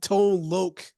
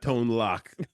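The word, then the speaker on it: Tone Lōc: the comedy was crazy we have tone Lok uh that's how you say it right yes not tone lock tone lo I didn't say tone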